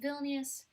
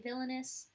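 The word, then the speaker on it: Vilnius: stole her snatch villus villus is how you pronounce it in my head I say villainous because when I would play the um um the capital the European Capital game on satara geography I didn't have the voice on it first so I would just say villainous in my head and I knew it was wrong and I know it's wrong it's villainous although I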